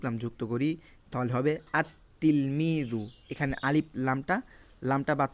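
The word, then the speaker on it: التلميذ: যুক্ত করি তাহলে হবে আত্তিলমিজু এখানে আলিফ লামটা লামটা বাদ পড়ে গেল আত্তিলমিজু সরাসরি তাকে যে আমরা ধরছি লামের উচ্চারণ হচ্ছে না এটা এখানে বলা হয়েছে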